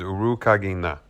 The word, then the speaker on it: Urukagina: The pronunciation of his name is Urukagina. Kagina. I think it's Kagina, or maybe Kagina.